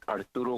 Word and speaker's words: Arturo: begin hi thank you all my name is arturo spelled a-r-t-u-r-o g-o-n-b-a-l-e i am calling